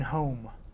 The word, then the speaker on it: home: the last sound in home home now we have a silent letter the last sound is the m sound it has a silent e we don't pronounce write the letter of